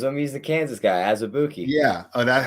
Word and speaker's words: Azubuike: He's the Kansas guy, Azubuike.